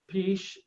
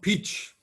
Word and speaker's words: Pietzsch: But Stefano Pietzsch, how do you say your surname, Stefano? It's called Pietzsch.